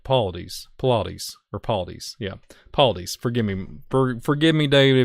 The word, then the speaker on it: Paulides: Paulides, that's how you say it. Paulides, yeah, Paulides.